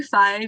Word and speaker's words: Fi: A lot of people call me Fi because it rhymes with Ty's name.